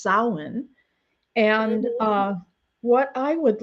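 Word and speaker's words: Samhain: Uh it's sin and so um which is spelled like sam hayne but it's called it's pronounced sin and uh what I would like to do there we go because this is a show about grief and honoring ancestors.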